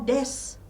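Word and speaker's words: です: jusu Lalu ada juga bunyi I dan u yang Luruh jadi vokal I dan u adakanya tidak diucapkan Contohnya seperti dalam kul Des memang tulisannya desu tapi ee si u di belakangnya kita tidak baca Des atau ee penutup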